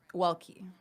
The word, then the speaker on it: Welkie: Welkie.